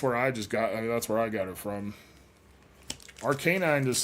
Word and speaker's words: Arcanine: I realize it's supposed to sound like canine, but just because there's a word inside of the name doesn't mean you have to pronounce the word just like you would otherwise.